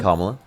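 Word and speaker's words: Kamala: Uh just Camala wasn't the right person. Kamla.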